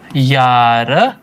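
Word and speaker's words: Jahr: Of course तो एच अगर बीच में आता तो साइलेंट हो जाता है। राइट? तो यहां पे साइलेंट है तो हम बोल रहे हैं यार यार तो इश्न 20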